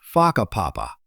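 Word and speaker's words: Whakapapa: You'll hear locals casually talking about places like Faka Papa, pronounced Faka Papa.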